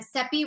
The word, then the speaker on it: Seppi: Seppi rhymes with Peppy, for anybody who doesn't know.